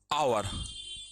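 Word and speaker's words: hour: हो गया N umbrella आवर आ हॉर्स ह वन वा यहां पर एच जो है साइलेंट होता है एयर उत्तराधिकारी एस साइलेंट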